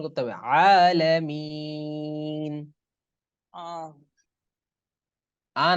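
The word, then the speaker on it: العالمين: আইন আটা হবে হারা একদম জবর ভিতর থেকে, গলার একেবারে ভিতর থেকে। আইন হারা জবর আলামিন। হ্যাঁ, গলা মাঝখানে জি। আলামিন। আইন আইন হারা জবর আলামিন। আলামিন জি আলামিন।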